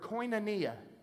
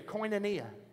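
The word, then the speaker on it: koinonia: you all that Word Fellowship is the word coia someone look at your neighbor say coia look at the other side coia now say it like you knew what you were talking about coia coia means three things are you ready write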